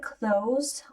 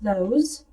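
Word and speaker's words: clothes: робить і потім The CL on your CH одяг на твоєму стільці до речі слово cles можна вимовляти як Close просто не вимовляти повністю Ось цього сполучення букв TH А можна вимовляти і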